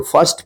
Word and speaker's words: first: इसी प्रकार से यहाँ पे देखिए FIRST, क्या अपन इसको फर्स्ट पढ़ते हैं, फिस्ट मत पढ़िएगा, फिस्ट फर्स्ट, इसको फर्म फर्स्ट। यहां पे जो है ना अ का उच्चारण हो रहा है आई का।